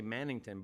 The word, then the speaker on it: Mannington: I want to say Mannington, but it's Yeah, you said it right.